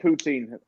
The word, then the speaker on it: poutine: Poutine. I actually hate poutine.